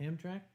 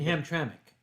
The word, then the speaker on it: Hamtramck: Hamra is still open hamrak hamrak you mean Hamtramck Hamtramck yeah I'm from look